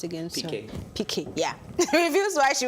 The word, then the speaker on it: Piqué: Multi-award-winning singer Shakira reveals why she won't marry how is it pronounced again? Piqué.